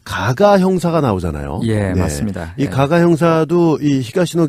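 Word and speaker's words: 加賀: 주인공으로 등장을 해요 그래서 가가 교이치로 하는데요 발음도 정확하게는 카가 카가 예 로입니다 히가시노 개이고 아니고 케이고가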